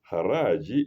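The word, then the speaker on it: Khazraj: Haraji is spelled K-H, that's Arabic. Ha. It's spelled Khazragi, Haraji.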